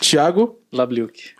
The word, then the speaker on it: Thiago Labliuk: Senhoras e senhores, recebam com muito carinho aqui na mesa do TechSec, Thiago Labliuk. Boa, Thiago. Tá certo essa pronúncia? Tá perfeito. Thiago Labliuk.